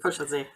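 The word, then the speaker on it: Fuschlsee: So there's a hotel on a lake in Austria, which is called I'm going to mispronounce it. I think Schloss Fuschel. Fuschelsee, yes, exactly. Yes, thank you. Fuschelsee.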